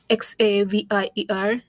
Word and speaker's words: Xavier: randomly But then I came across this uh Zavier initialization. Uh what was the term? Um I'm not sure how I'm pronouncing it correctly, but it's X A V I E R.